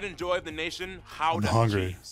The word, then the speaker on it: Gouda: joy of the nation howdy yep that's how you pronounce it guys really how the how the how the not gouda oh and keep in